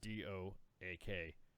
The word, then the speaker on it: Doak: So his name is Colonel Retired Robert Doak, spelled like oak but with a D in front of it. Doak.